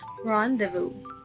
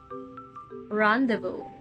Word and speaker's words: rendezvous: complicated but are actually not how do you pronounce this word it's actually actual pronouns as rendezvous rendezvous rendezvous according to Google the word Rendezvous is